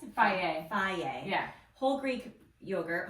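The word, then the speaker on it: Fage: Okay, we've gotten this do you pronounce it? Faye.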